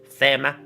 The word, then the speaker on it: Thema: How do you say THEMA? Thema. My name is Emma. Thema. My name is Thema. Like EMMA? No, Thema. No, it's Emma. Thema.